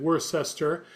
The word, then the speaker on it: Worcester: If you're not from there, you pronounce it worcester.